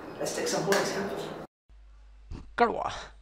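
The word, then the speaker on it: कड़वा: Karwa, right? So it's karwa, karwa, karwa. Right, don't pronounce like kadva because this may looks like a D sound.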